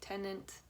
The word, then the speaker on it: Tenet: Also coming out that weekend in theaters is Christopher Nolan's Tenet. Am I saying it right? Tenet?